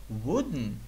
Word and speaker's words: wooden: So, wooden, wooden, то есть деревянный, пишется вот так, wooden. Кстати, den или ten произношение мы через нос проговариваем, еще раз. Это будет wooden, alright, not wooden. Кстати, wooden тоже нормально.